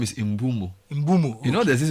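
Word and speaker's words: Mbeumo: I'm making a 50 million pound bid for the He says his name is Imbumo. Imbumo. You know there's this video of football pronouncing their names.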